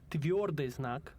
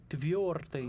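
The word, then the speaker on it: твёрдый знак: This letter is called Tviordeznak, which means hard sign. The first word of the name of that letter hits the accent on the first syllable. Tviordeznak.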